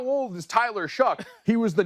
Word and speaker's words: Shough: We didn't know how to pronounce his name. Yeah, you call him Shough?